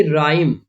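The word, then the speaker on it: rhyme: rule हमारा कहता है इफ the words begin R एच अगर आरएच से स्टार्टिंग होती तो भी वहां पर आर साइलेंट होगा जैसे देखिए राइम राइम आर से शुरुआत हो रही है तो यहां पर भी एच साइलेंट है ओके रिदम रिदम नहीं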